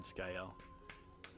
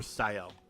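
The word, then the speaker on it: Sciel: Although I was told that either pronunciation works by a buddy in Europe. Because apparently her name is... Ciel is apparently sky in French. I took French in high school, which was, you know, closer to 30 years ago than I care to acknowledge. But yeah, he said that both pronunciations, Sael and Skyel, would actually probably be acceptable.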